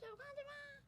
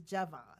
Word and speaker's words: Javan: I'm like, is that Jovan? But I guess it's another How'd you Jovan. spell it? Same way? Yeah, he's supposed to say. Oh, no, Jovan is J-O. Yeah, no, he's Javan.